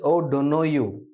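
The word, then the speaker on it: O'Donoghue: the correct pronunciation is O don't know you okay so it's called o don't know you unhappy Tri o don't know you this is an Irish word okay it's an Irish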